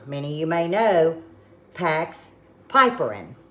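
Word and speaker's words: piperine: you may know packs piperin some people pronounce it pipparin but it's p-i-p-e-r-i-n-e this will encourage the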